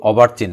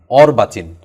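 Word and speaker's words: অর্বাচীন: শব্দ মনে রাখতে হবে শব্দটার উচ্চারণ কিন্তু অভারচিহ্ন না অর্বাচিন এর বিপরীত শব্দ কোনটি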